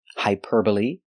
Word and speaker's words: hyperbole: they're very special because they end with e but the E is not silent we pronounce them all the same with a long e like green beans hyperbole vigilante and epitome today we're going to